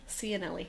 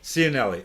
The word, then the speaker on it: Cianelli: Tell me, I always ask the guests this, how to pronounce their last name, because how do you pronounce your last name? Cianelli. Cianelli.